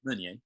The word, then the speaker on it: Meunier: Meunier. Meunier.